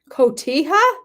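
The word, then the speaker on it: Cotija: to do wower wow ktia it's not Koh did I say it wrong I always thought it was Koh it's ktia she said it wrong on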